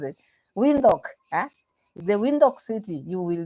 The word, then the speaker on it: Windhoek: How do you pronounce it? Windhoek.